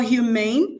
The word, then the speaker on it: humane: For humane, it also has the stress on the on the second syllable.